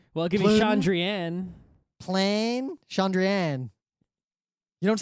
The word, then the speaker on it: Chandrian: has to be Chandrian, otherwise the poems that he's referred to a few times, he rhymes Chandrian with plan. Okay. So unless it's plan, then it's Chandrian.